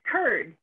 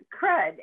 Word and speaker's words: curd: Pronounced curd, not crud, as some have suggested.